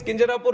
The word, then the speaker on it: Kinjarapu: My name is Kinjarapu Ram Mohan Naidu, and when some people say Kinjarapu, there might be some problem with them. They can't pronounce it the way I pronounce it.